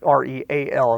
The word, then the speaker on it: Real: I grew up, Lavaca County, or Real County, REAL. It looks like real, but it's Real. Some people pronounce it Real.